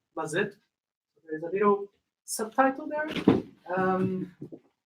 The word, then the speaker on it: Mazetto: So yes, my name is Mazetto, and if you're wondering how you can actually pronounce it the Portuguese way, is Mazetto.